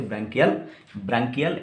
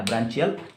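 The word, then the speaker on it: branchial: तो गिल से जो रेस्पिरेशन करेगा उसको ऑब्वियसली क्या बोलेंगे, ब्रांकियल या ब्रांचियल रेस्पिरेशन, जैसे भी आप प्रोनाउंस करना चाहता है।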